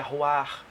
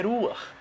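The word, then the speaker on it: רוח: Nós vemos pessoas pronunciando de formas totalmente inadequadas a palavra espírito. Uns falam que é Ruach, outros falam que é Ruar. Mas a forma correta de pronunciar a palavra espírito é Ruach.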